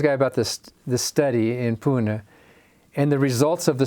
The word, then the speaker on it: Pune: Yeah, Pune, yeah.